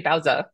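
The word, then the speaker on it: Baozi: is her name and you'll notice I call her both Bowa and bowy um so it's actually bowza the proper pronunciation for some reason uh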